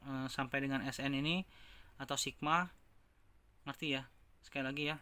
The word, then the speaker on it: sigma: S3 sigma, sekali lagi bukan bacanya suku ya, bacanya sigma atau jumlah 3 suku pertama adalah U1 tambah 2 tambah U3 ya.